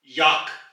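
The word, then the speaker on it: Jak: ही कहते हैं और जर्मन जबान में याक याक अंग्रेजी में यक तो आप यहां आ का जो फर्क है उसको नोट करें अंग्रेजी में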